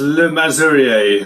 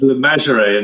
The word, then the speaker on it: Le Masurier: We pronounce it as Le Masurier. I think in Jersey, where it comes from, they pronounce it as Le Masurier in Jersey, but we do it as literally as it's spelled.